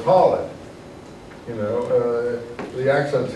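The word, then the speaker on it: Khalid: holled is the commander see I know it's not Haled so it's holid you know uh the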